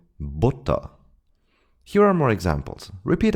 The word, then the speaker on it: Butter: And now let's have a look at the short U, which is very similar to the U sound in push. We pronounce it in this short way when it's followed by two consonants and especially double consonants, as in Butter.